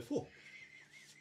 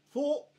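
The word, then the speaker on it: phở: Eine Fo. Eine was? Fo. Eine was? Fo.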